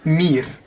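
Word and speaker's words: mier: і можете собі записати цей звук який складається з букви і букви е читається як і тобто якщо Ви зустрінете слово і R це буде мір це мураха це не дуже важливо Тобто це слово читається як мір м і R мір ось це слово fiss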